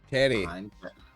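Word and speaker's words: Pterry: Yeah, It's Terry like that's why. pterodactyl and the P silent.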